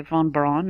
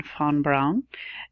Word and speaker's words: von Braun: nerf on brown-brown see I always say von Braun I mean fawn Brown so I wanted to